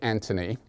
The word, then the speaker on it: Anthony: Actually, you might pronounce it Anthony, because I believe he's English, or he was. He comes from England originally.